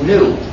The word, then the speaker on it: gnu: Now the reason why this word is funny is that the dictionary says it's pronounced new.